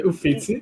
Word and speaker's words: Uffizi: Yeah, under the, I don't want to pronounce it wrong, the Uffizi Gallery or Uffizi Gallery? Okay, Uffizi, yeah.